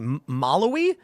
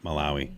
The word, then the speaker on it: Malawi: Maloi. Malawi. How do you say that? Malawi.